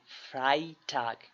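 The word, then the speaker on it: Freitag: Donner Starc ফ্রাই টাক এখানে দেখেন ই আই এখানে আমরা বলবো আই ফ্রাই টাক কিন্তু এখানে কিন্তু আই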